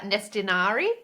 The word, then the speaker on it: Nestinari: yeah, Nestinari.